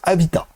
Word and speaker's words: Avatr: Je vous rappelle, Avatar a changé de nom maintenant, ça s'écrit toujours Avatar d'après moi, mais ça se prononce Avita.